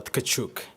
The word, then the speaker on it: Kachuk: the pronunciation yes so my last name is uh kachuk so all right so kachuk kind of so you